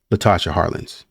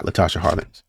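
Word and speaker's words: Latasha Harlins: right I don't want to keep saying her name wrong Tasha yeah it's Latasha Latasha Harland yeah Latasha Harland and I went and looked and essentially what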